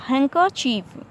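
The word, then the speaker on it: handkerchief: और देखें हैंडकर चीफ लिखा हुआ बट इसमें डी जो है साइलेंट रहेगा, हैंकर चीफ।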